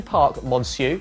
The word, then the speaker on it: Parc Monceau: sister rafaela in burkas at the clinic du Parc Monceau that's how you say it by the way